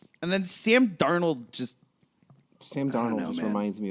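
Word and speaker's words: Darnold: to do with it it's pronounced Darnell we were I think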